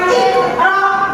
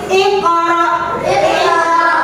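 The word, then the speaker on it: اقرأ: Bacanya itu adalah memantul. Jadi bukan iqra tapi iqra. Memantul tapi memantulnya tipis.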